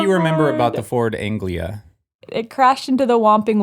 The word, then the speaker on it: Anglia: saying it wrong again did you just say anglica again it's Anglia Ford Anglia there's no see in it why is this so